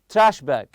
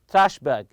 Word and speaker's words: trash bag: backpack for dirty laundry so we have here trash bag trash bag you put the stress on the first part also backpack backpack always